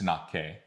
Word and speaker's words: Tαnakɛ: So we would tend to say like Tnakɛ at the end, that kind of sound, but it's just Tnakɛ. So it's a lot more like Italian if you've ever sung in Italian before, or Latin.